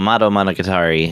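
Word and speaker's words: Madou Monogatari: Okay, so motto monocatari. You you were right. I mean that's pretty much uh the way it's pronounced.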